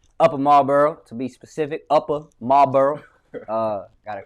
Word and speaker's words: Upper Marlboro: Upper Marlboro. Gotta pronounce it right while I'm home.